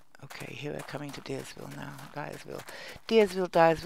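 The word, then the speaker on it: Diersville: here we're coming to deersville now guys will deersville Dives will people pronounce it I think it's meant to be pronounced Dyersville because it's seven days to die right but a lot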